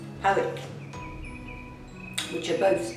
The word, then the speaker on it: Powick: My granddad in Crown East and my granny in a place called, the locals call it Pike, but it's spelled P-O-W-I-C, Powick, which are both like suburbs of Worcester.